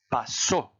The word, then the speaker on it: pasó: Avec accent écrit, vous insistez sur le O. Ça donne passo.